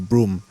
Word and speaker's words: Broome: It is pronounced Broome, because when I spoke to the locals there, They call it Broome lah.